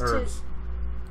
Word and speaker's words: herbs: Herbs. Herbs. Herbs. What did I say? It's herbs. It's herbs. Oh. The H is silent.